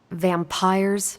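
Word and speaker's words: Vampyres: Vampires with a Y? Pronounced exactly the same as vampires.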